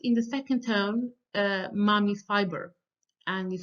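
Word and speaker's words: 骂: Um, and then we have the fourth tone, which is high, but it drops sharply to the bottom. So many people identify it with kind of like an angry command.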